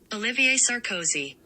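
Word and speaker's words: Olivier Sarkozy: we I actually did fully pull up the pronunciation so let me play that right now for everyone Olivier sarosi Okay so oliv that is Mary Kate ol's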